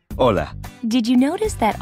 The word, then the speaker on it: hola: hello you would say hola did you notice that although hola starts with the letter h it is not pronounced the letter h is always silent in spanish nice now practice saying